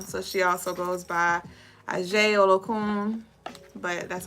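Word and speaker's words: Aje: She is the daughter of Olokun, so she also goes by Ajay Olokun, but that's how you spell it, A-J-E.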